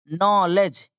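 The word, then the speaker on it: knowledge: ए एन डी एंड नॉलेज अब देखिए यहां के silent N ओ डब्ल्यू एल न लेज ई डी जी ई ठीक है नो लेज यानी ज्ञान ग्र्यू जी आर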